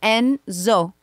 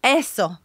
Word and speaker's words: Enzo: to pronounce them so no Mommy it's Enzo Enzo ESO and then Axel was